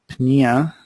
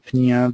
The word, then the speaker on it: pneumonia: When with pneumonia, or most people don't pronounce the P very well, meaning breathing, and then Arthur meaning joints.